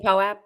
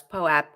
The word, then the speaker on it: POAP: someone in our chat trying to tell us POAP rhymes with soap, but guess what? It does not. You're only in our chat and we get to talk, so it's POAP.